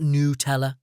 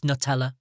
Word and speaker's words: Nutella: words all right okay it's not new teller it's Nutella okay stop it ah